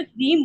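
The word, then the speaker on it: ह्रीं: ओम रीम, हा के नीचे रा का रेफ लगा हुआ है ना, तो रीम बोलेंगे।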